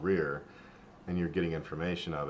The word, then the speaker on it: RIR: So that was the Reptile Information Review, which of course the initials are RIR, and as you just heard me say, I generally pronounce it as Rear.